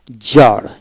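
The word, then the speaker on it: czar: ডাইট ইন ডাইট তারপরে শব্দের মধ্যে জেট এর পূর্বে সি থাকলে সের উচ্চারণ হয় না তবে শব্দের সংখ্যা কম সি জেট জার জার সির উচ্চারণ হবে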